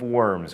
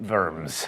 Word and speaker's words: Worms: Emperor Charles V at the imperial diet of Worms, or in German, Worms.